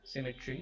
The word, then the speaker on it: symmetry: frame die fearful symmetry symmetry is three syllables the first syllable is stressed okay put the unstressed